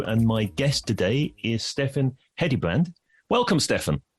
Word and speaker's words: Steffen Hedebrandt: I'm Paul Denham, your host of the B2B Uncovered show, and my guest today is Steffen Hedebrandt. Welcome, Steffen. Thank you, Paul, and pretty well pronounced pronunciation of a Danish name.